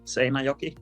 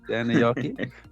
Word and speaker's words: Seinäjoki: Have I pronounced that correctly? Quite well, Seinäjoki, yes. Seinäjoki, yeah.